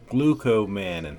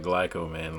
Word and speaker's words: glucomannan: Shirataki noodles, the Glucomannan. That is the proper pronunciation for it, not glycomannan, like I said earlier in the video. But glucomannan is the pronunciation that I think is the correct one.